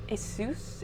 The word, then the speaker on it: Asus: I got Asus? Aries? It's A-S-U-S. Asus, I think is how you say the company.